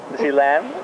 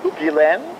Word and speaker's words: Gillain: We are here with one of France's greatest stars, Marie Gillain. Yes. Gillain. I got the name wrong. Okay. It's Gillain. Gillain. It's very hard Gillain. For American people.